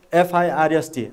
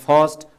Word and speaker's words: first: You may say that first, or you may say that first, you know. So this is what British people pronounce first. They don't pronounce raw sound, and American people pronounce raw sound also.